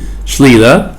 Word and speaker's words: Clilia: The pronunciation I have to make sure it's right in Hebrew. Sla.